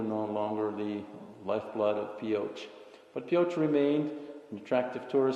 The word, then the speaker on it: Pioche: obtain a bit more expertise we went to Pioche Nevada and yes that's how you pronounce it it's Pioche and we went there to visit Lincoln power